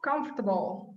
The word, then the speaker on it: comfortable: Okay, so teach me how to say comfortable. Comfortable. Comfortable. Comfortable. Comforter. Get a stronger R sound in there. Okay, comfortable. Oh, comfortable. Comfortable. Too many syllables.